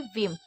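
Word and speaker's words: whim: उसके बाद डब्ल्यू आई यानी कि वी, एम को माँ पढ़े यानी कि विम। हमेशा जब भी आई होता है तो उसको एकदम जल्दी बोलते हैं, विम, वीव नहीं बोलना।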